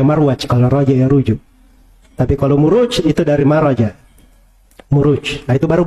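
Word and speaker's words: مروج: kan setelahnya wadin aljauhar itu kalau di bahasa Arab gak dibaca mirwaj tapi dibaca muruj jamak dari marjun marajamuju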